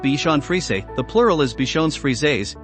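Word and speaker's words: Bichon Frisé: Bichon frize he Bichon frize pronounced Bichon frize the plural is bichon's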